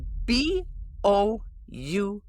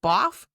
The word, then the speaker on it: bough: Next up, we have B-O-U-G-H. Okay. Is it boff? Is it buff? No. B-O-U-G-H is pronounced bough. Bough. It rhymes with cow.